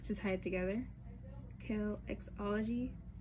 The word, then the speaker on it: Kelxology: And then the X in the middle is like to tie it together, kelxology, but the X is silent.